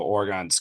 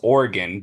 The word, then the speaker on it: Oregon: right great take there lots of insights into Oregon Alex what did you have to add to that so I like I I really like Cam's points on how orgon's clicking at the right time or orgon there's